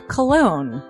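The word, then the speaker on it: Colon: It is a self-published book by Christopher Cologne.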